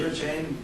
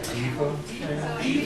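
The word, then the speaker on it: Devachan: it again you say da chain d e v a c h a i n like diva chain yeah it's pronounced diva or da depending on David chain or diva chain.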